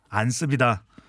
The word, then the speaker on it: 안습: 안습이다. 31.7%로 안숙이요? 안습. 안습? 아니다. 이거 아니야. 습. 안습.